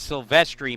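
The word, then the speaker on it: Silvestri: one and0 sylvestri and apologies if I've been pronouncing that wrong at times today but the re receed uh confirmation that it is sylvestri moves from left to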